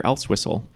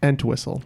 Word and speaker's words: Entwistle: Tommy or something else, but no, that's Peter Elswissel.